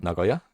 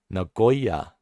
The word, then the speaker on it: Nagoya: Because yeah, Nagoya or Nagoya is like very different. Because Japanese usually keep all the sounds same length.